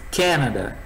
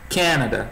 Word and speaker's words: Canada: A gente fala Canadá, né? A sílaba forte estaria aqui, Canadá. Em inglês, Canada. Canada, tá no começo.